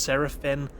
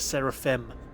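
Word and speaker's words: Serafin: In fact, I wouldn't be surprised if the YouTube auto captions for this mispronounced Seraphine as Seraphim. And just so the YouTube auto captions know, in this game the name is spelled S-E-R-A-F-I-N.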